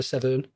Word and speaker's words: Severn: the where I live my local River is called the River Severn but everyone pronounces it seven so we just took